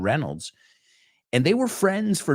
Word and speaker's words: Reynolds: Bullock and Ryan Reynolds it's not Reynolds it's Ryan Reynolds and they were friends